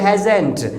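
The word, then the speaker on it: hasn't: में होता है, तो हैज़ नॉट को हम लोग बोलते हैं हैज़ेंट। ओके, जैसे मैंने कहा वेल उसने फ़ोन नहीं किया है तो सेंटेंस बनेगा ही हैज़ेंट कॉल्ड। ओके, और वेल मैंने कहा उसने खाना नहीं बनाया तो सेंटेंस बनेगा शी हैज़ेंट मेड फूड, यानी हैज़ेंट बोलना है इसे, राइट।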